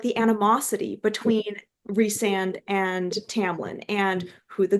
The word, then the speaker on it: Rhysand: And like Rhysand is, how do you pronounce his name? Yeah, it's Rhysand.